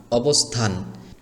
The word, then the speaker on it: অবস্থান: সরে অ ব স এখানে দন্তসটাকে সরাসরি স এর মত উচ্চারণ করতে হবে। ক খ গ অঙ্গ চ ছ স আছে না ওই স ওই সর মত এখানে এই দন্ত স অক্ষরটিকে উচ্চারণ করতে হবে সর মত করলে হবে না এরকম সরে অ ব স অবস থকারে থা ন থান অবস্থান এখানে এই থ বর্ণটি বা